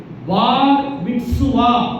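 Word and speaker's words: בר מצווה: ஆலயத்தில் கொண்டு வந்து பார் மிட்சுவா அப்படின்னு அது சொல்லுவாங்க. கொஞ்சம் உச்சரித்து பாருங்க, சொல்லுங்க, என்ன சத்தமாக சொல்லுங்க. பார் பார் பிஏஆர் பார். பார் அப்படின்றது ஒரு வார்த்தை, மிட்சுவா அப்படின்றது அடுத்த வார்த்தை.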